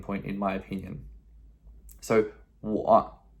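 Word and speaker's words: 我: put it up here somewhere, but it is pronounced wo. That's W-O, wo, me, I.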